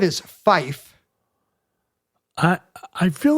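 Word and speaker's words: five: It's 2 syllables. 5 is fife.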